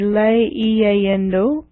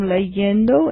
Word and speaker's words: leyendo: So to pronounce this, it would be le-iendo, cre-iendo, o-iendo. So to make it more pronounceable, what you do is you change the letter I to the letter Y in each case. So this one now would become leyendo. It's easier to pronounce.